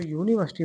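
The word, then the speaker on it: university: आ रहा है देखो यूनिवर्सिटी में जो साउंड आ रहा है किसका आ रहा है या का जो कि कैसा है आपका कोसोनेंट साउंड है इसलिए हम इसमें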